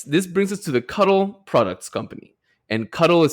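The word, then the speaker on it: Kutol: And I was I in the entire outline I I in my mind pronounced it cout until the very end when I saw that it was pronounced like cut all.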